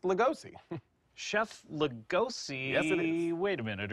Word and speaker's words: Lugosi: cookbook Stakes not Stakes please welcome Chef Emerald Luigi hi chef Luigi so nice to meet you uh it's actually pronounced legosi Chef legosi wait a minute are you are